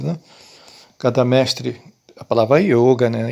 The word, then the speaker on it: yoga: Cada mestre, a palavra yoga, né? Yoga não, tá, gente? Que o sânscrito, o O é fechado, então se escreve yoga, mas se lê yoga.